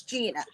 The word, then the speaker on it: Gianna: be saying that wrong it is spelled Gianna yeah Gina told me it's Gina that's what I heard